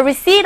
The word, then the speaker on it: receipt: No, the receipt I had was illegible. Illegible. 읽을 수가 없는, 알아볼 수가 없었어요. 내가 가지고 있던 뭐가? Receipt. P는요. Receipt가 아니라 Receipt에서 발음이 묵음입니다.